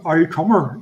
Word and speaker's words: Auldcummer: Yeah, it's the Ulster Scotch pronunciation.